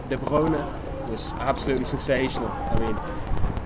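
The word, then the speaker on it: De Bruyne: stepped up and de de brona as should correctly pronounced de brona was absolutely Sensational I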